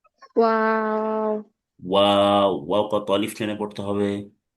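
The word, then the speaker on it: و: ওয়াও মাখরাজ হচ্ছে দুই ঠোঁট গোল করতে হবে, একটু মাঝখানে ফাঁকা রাখতে হবে। ওয়াও।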